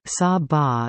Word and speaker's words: Saba: Saba Dutch pronunciation Saba is a Caribbean island which is the smallest